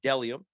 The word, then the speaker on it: Bdelliom: That's BDELLIOM, pronounced Delium.